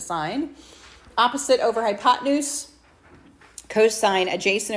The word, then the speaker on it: sin: Basic trig functions s shortened to sin n but you still pronounce it sign.